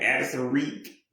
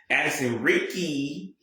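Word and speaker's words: Addison Riecke: But Addison Reek, yeah, she finally like Addison Reek. Oh, I said her name wrong again. Addison Ricky, yeah.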